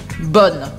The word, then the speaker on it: bonne: A única diferença é do masculino para o feminino, que a gente muda a pronúncia. Bon, bonne, d'accord?